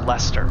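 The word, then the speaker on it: Leicester: love you elester and Britain is pronounced Lester oh okie dokie Lester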